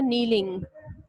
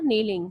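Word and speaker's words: kneeling: घुटनों के बल झुकना, नीलिंग। We were नीलिंग। के साइलेंट है, के N double E एल आई एन जी।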